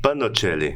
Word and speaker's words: Pagnoncelli: Panocelli. Panocelli. Um terceiro... Esse G aqui me confundiu, pessoal. Ele é mudo.